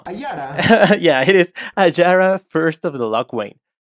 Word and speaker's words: Ayara: Ajare? No. Ayara.